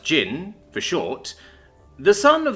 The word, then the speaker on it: Jin: Primark children Khan temujin timujin Khan or Jin pronounced Jin for short the son of the jagatik Khan